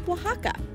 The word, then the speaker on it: Oaxaca: Spaniard conquered the region the word was transliterated to a more common Spanish pronunciation known as Waka let's visit one of